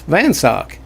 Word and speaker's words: Van Scyoc: said he knew van sock or van sayoc and she says it's not van sayoc it's van sock and so he asked